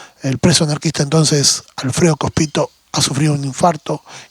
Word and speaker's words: Cospito: situación de Alfredo Cospito, si lleva tilde y es esdrújula, debería ser Cospito ahí.